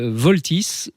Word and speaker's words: Vaultys: Alors voilà, pour résoudre ce problème de piratage finalement, Voltys, ça s'écrit VAULTYS, je l'épelle parce que c'est important. Voilà.